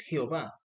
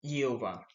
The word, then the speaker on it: Jehová: Nosotros en Latinoamérica pronunciamos es Jehová, pero en el hebreo no existe la J y se dice es Jehová.